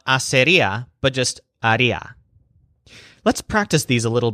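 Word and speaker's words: haría: she would do is Aria in case you haven't figured it out yet RIA is always the stressed syllable for the wood version of any verb and of course hacer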